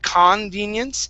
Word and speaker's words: convenience: Now, also with the word, with the beginning of the word, okay, the, because the C-O-N is not receiving the stress, okay, we actually pronounce it kun. Instead of convenience, it's kun, convenience.